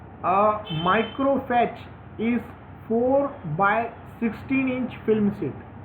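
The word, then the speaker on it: fiche: Micro फैच इज अ 4x6 इंच film sheet. Micro फैच जो है वो 4x6 इंच film sheet होता है। The word फैच is pronounce as फिश।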